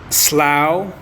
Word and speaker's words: slough: Slow أو slough off هتنطق slough.